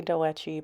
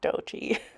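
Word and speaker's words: Doechii: I think I used to say Doechi, but it's just Dochi.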